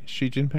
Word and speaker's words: Xi Jinping: i xi jinping am i saying it right xi jinping that's right how do you what are your